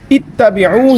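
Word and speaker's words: اِتَّبِعُوا: حالانکہ جو صحیح اس کا تلفظ ہے، صحیح جو اس کا اعراب ہے وہ اتبعوا ہے، یعنی اس کا جو حمزہ ہے وہ مکسور ہے، اس پر زیر ہے.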